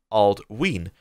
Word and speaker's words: Aldwin: Aldwin is pronounced Aldween because of the long vowel and sound on the Y.